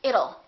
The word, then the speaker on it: it'll: sound don't say it let's change that t into a fast D and say it'll it'll rain it'll be hot it'll be nice it rhymes with the word little we don't say little